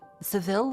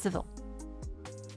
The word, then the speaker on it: Seville: Wait, Seville or is it civil?